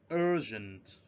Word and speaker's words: urgent: going urgent repeats please urgent we spread at the first syllable urgent again urgent this